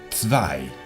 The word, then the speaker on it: zwei: Y la W es como una V vibrante. No tenemos este sonido nosotros. Así tenemos zwei.